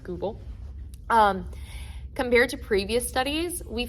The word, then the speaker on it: Goupil: And so compared to previous studies, like the 2021 one by Goupil and al., I think it's pronounced Goupil, Compared to previous studies, we found that there were some discrepancies.